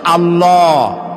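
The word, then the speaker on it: الله: তো আল্লাহ নয় কিন্তু আল্লাহ হচ্ছে অশুদ্ধ শুদ্ধ হচ্ছে আল্লাহ বলার সময় মুখটা গোল হয়ে যাবে বলেন তো সবাই উচ্চারণ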